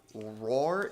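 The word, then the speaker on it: Rahr: So tonight I'm drinking Roar & Sons Brewing Company, their summertime wheat. It's a Hefeweizen, and the Roar is spelled R-A-H-R.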